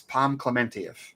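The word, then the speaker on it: Pom Klementieff: her name and I'm like, "Oh, I've been mispronouncing her name. Now I'm gonna say it right. It's Palm Clement."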